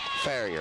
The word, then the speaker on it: Ferraro: I don't know if they pronounce it Farrier or Farrier. Farrier, okay. Get that right.